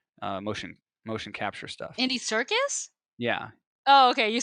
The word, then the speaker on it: Serkis: doing the ape motion motion capture stuff Andy Serkis yeah okay you said secure I was like oh sorry thank you my pronunciation is out there my bad sorry Andy